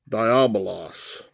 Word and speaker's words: Diabolos: word diabolos, number 1228.